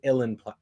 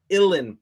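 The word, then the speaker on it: uilleann: illin illen pipes but the way it's spelled I could never wrap my head around how to pronounce it everyone tried to help me out but it's just like you in you in pipes and I'm just like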